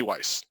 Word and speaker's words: Weiss: Berry Weiss, and Honey Weiss, or Weiss if you're German, if you want to pronounce it that way.